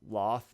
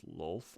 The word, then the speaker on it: Lolth: And I've always pronounced this Loth, but I realized that's probably not right. It's Lolth, I think.